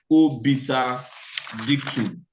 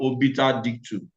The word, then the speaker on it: obiter dictum: Also, apart from the ratio decidendi, there is another important thing we need to consider, which is known as obiter dictum. Obiter dictum. Obiter is spelled OBITERDICTUM.